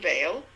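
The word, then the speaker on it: Weil: example of inclusive solutions simone vale which is spelled w-e-i-l a mystic political activist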